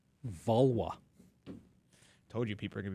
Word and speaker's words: Valois: learn Henry Vala is how his name is pronounced vwa told you people are going to be mad